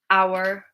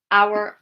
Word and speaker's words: hour: So our honest, our honest. The H is silent.